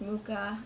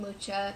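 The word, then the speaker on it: Mucha: Duchamp my favorite artist mukha I like calling it lucha but I know that's not how you say his name oh well so then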